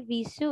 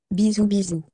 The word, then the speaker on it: bisou: Bisou, bisou. All right. So did you hear that, guys? Yep. Bisou, bisou. Yeah, so it is read as bisou.